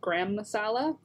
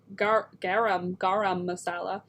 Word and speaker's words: garam masala: saying it right because i was for many years saying gram like g-r-a-h-a-m gram masala and then i realized it's not spelt that way so it's garam garam masala i'll be honest i